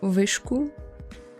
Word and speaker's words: Viscu: stuck around kind of it sounds like whiskers like that cat food brand but in reality it's quite far away from that it's vishu there's no way to